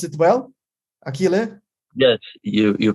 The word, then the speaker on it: Achille: continues we have a new very special guest akile polonara did i pronounce it well aquile yes you you pronounce very good hello everybody